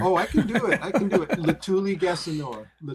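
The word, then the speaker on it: Letuligasenoa: Latuli Gassanoa. I have to say it like in a syllable at a time.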